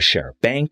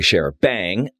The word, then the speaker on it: charabanc: in the past I've been calling it a sheriff bank which is incorrectly or sure Punk which is definitely incorrectly pronounced it is a sheriff bang and even though it's a British word I